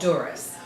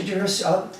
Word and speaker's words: Dzuris: Silent Z. Dzuris. So Dzuris, how long have you been the town clerk now, here in Chelmsford?